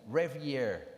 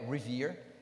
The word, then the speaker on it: Rivière: O nome dele é Britton Revier, não é Rivière, 99% que se pronuncia Revier, ok? Inclusive com acento, possivelmente francês, pelo jeito, mas ele era inglês.